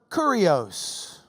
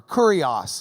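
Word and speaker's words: κύριος: Greek language already had this word kurios or curious if you don't pronounce it like you're from Lubbock hurry us hurry us I know what you're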